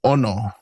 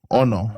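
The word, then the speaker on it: ʻono: So, this one has a okina at the beginning of the word and it's just like a um an accent. So, when you say the word, you're going to have kind of stress the the o. So, you're going to go ono.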